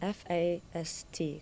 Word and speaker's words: FAST: Um so, I heard the acronym F A S T.